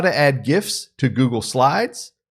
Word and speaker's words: GIF: Yes, that's a hard G. You're getting it here first. This is my 2 cents. GIF, hard G. It's not GIFs and it's not Joogle. It's GIFs and Google.